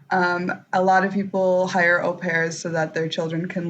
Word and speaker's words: au pair: So au pair, for people that like me don't know how to spell it, is spelled like AUPair, but it's pronounced au pair.